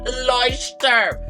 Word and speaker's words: Leuchtturm: Leuchtturm. So this is the A4 master size, which I believe is their largest size. And I don't know what I'm gonna do with this. So we got a Leuchtturm here.